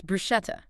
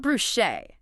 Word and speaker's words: bruschetta: It's bruschetta. The hard K sound. Not brusche.